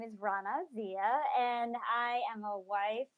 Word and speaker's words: Raana Zia: new guest online, and see if I can pronounce her name right. I think it's Raana Zia. Is that right? It's Raana Zia.